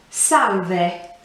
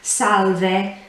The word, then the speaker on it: salve: case i'll tell you you would say salve again pronouncing every letter in that with the even with the e at the end salve so that's the more